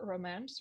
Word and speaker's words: romance: whirlwinds romance yeah prevents the stresses on the second syllable romance feral instruments mm-hmm early